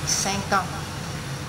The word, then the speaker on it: cinq ans: Cinq, cinq thì ta lại nối qua bằng âm cờ, cờ, cinq ans.